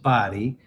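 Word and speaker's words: Bodie: So, the other two are Body Island. It's spelled B O D IIE E but it's pronounced Body and Ochre Coke Island.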